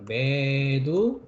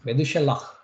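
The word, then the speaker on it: מְתוּשֶׁלַח: 메두셀라흐. 그냥 헤트가 있지 않습니까? 그죠? 메두셀라흐.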